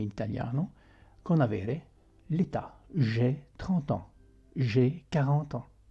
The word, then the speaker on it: j'ai: Dunque si pronuncia j'ai.